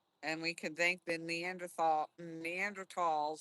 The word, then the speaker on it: Neanderthal: And we can thank the Neanderthals. I always say it wrong. I always want to say Neanderthal, but it's not. They always say Neanderthal.